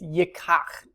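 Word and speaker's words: יִקַּח: So it's yikach is how you pronounce that. Remember the dagesh forte, or that dot there, means there's really two kofs there. And what's happened is the lamed has started to be pronounced just like the kof.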